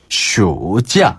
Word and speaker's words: 暑假: 근데 여름 휴가는 슈자.